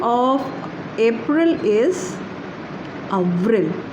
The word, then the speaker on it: avril: And the April is A-V-R-I-L, right? And the pronunciation of April is Avril, right?